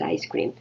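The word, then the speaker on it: ISS-CREAM: is ice cream yeah it's written as iss cream and pronounced as ice cream that's a cream for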